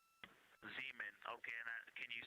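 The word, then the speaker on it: Zeman: We believe that that is Zean Crater. Zean. Okay. Can you say the first letter? I may be pronouncing that wrong.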